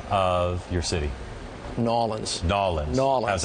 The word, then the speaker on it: New Orleans: New Orleans. It's just real easy, lazy. New Orleans. Yeah, not New Orleans, not New Orleans, just New Orleans.